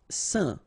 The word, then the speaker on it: saint: Saint. Alright, so final T not pronounced, and then when you combine this A-I-N here, you get the un sound.